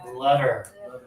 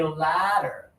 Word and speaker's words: letter: We're not going to open too much. We're going to keep our teeth closed. If we open too much, we're going to say ladder.